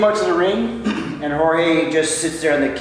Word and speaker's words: Jorge: I hate when people call him George Masvidal. That drives me nuts. No, it's Jorge, man.